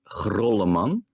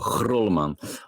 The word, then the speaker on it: Grolleman: My last name is by the way pronounced Grolleman. So it's really it's a Dutch grr. So it's Grolleman.